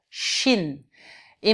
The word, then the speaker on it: shine: Shin. Et maintenant, si je rajoute un E, ça va être une diphtongue, ça va être ouvert et ça va faire shine.